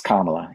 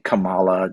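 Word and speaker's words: Kamala: and come on man it's kamla you know like come on stop saying Camala just as a like why why would you why would you do that and and just come on pronounce pronounce her name right anyway um so but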